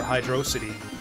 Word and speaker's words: Hydrocity: hydro city it's hydrocity we gotta emphasize the dro i haven't seen anyone make the argument uh for hydrocity also yeah to